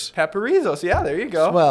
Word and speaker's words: Paparzos: It's Paparzos. Paparzos. Paparzos.